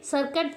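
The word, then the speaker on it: circuit: है और यहां पे सर्कट में भी हमारा क्या है टी साइलेंट है यहां पे गिटार में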